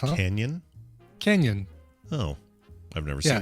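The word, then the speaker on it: Cañon City: So it's pronounced Canyon.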